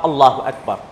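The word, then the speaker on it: الله أكبر: আল্লাহু আকবার আল্লাহু আকবার আল্লাহু আকবার আল্লাহু আকবার। সুন্নাহ হচ্ছে প্রথম 2 আল্লাহু আকবার এক নিঃশ্বাসে হবে, দ্বিতীয় 2 আল্লাহু আকবার এক নিঃশ্বাসে হবে, এবং রর মাঝে সাকিন হবে, সাকিনের সাথে ওয়াকফ করে উচ্চারণ করা হবে।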